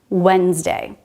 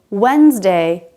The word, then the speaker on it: Wednesday: to d we have wednesday there's no rule here about why the d is silent it just is in this word it's also silent in